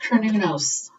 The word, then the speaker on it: Cernunnos: Some people pronounce it Cernunnos. Where is it? Oh, here he is. But I think it's pronounced Cernunnos, okay?